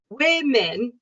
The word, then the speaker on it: women: So at the beginning is like win, women.